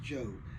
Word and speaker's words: Djo: I think is pronounced Joe. Kind of like Jango Reinhardt. He was a guitar player, jazz guitar way back in the 20s, 30s or Jango Unchain, where the D is silent, then there's a J.